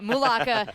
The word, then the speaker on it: Mulaka: Mulaka.